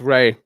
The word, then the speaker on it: Rye: It's Ray. My name's Ray, man. My name's Ray. Dude, I only see it ever written down in the chat, you know? It's spelled Rye.